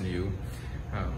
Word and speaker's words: NIU: Genuine also imports the NIU brand of electric scooters, pronounced new, as well as the